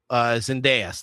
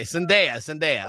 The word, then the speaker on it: Zendaya: or if John Watts, who is essentially the Zendaya. Did I say Zendaya? Said Zendaya. It doesn't matter what you said. You said it wrong. Okay, Zendaya.